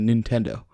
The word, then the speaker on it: Nintendo: short i sound however in japanese it's pronounced nin because in japanese the vowel i is always pronounced the same way e regardless of what